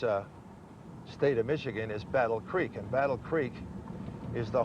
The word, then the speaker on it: Battle Creek: it they said battle the way you pronounce it is Battle Creek well that was my chance to laugh I don't know how how c-r-e-ek became quick when we first came here